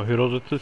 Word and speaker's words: Herodotus: don't know how to say his name, but Herodotus? Oh, Herodotus, yep. See, I kind of knew who he was. I was like, maybe it's not him, like, maybe it's just a different, like, Herodotus.